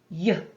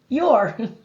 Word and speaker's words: you're: are in this word the letters o u stand for the sound oo like in u the